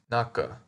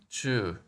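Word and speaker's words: 中: Middle inside between and it is pronounced Naka by itself and Chu in compounds if we had the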